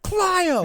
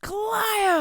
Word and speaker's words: Clio: was a kid and I didn't understand like damn it pat it's clo it's pronounced clo and my mom's like